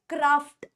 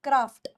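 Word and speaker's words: craft: ये वर्ड होता है क्राफ्ट क्राफ्ट क्राफ्ट यानी आर्ट की कोई भी चीज को हम लोग क्राफ्ट बोलते तो इसको आप लोग कैसे प्रोनाउंस करोगे आप इसे प्रोनाउंस करोगे क्राफ्ट क्राफ्ट क्राफ नहीं क्राफ्ट दिस वर्ड अब या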